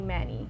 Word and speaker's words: Mani: I would let people call me Mani instead of Mani. I was too ashamed to let them know like how my name is supposed to be pronounced.